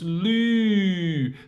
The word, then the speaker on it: 绿: So 绿, your tongue are touching your lower teeth. 路, your tongue are not touching.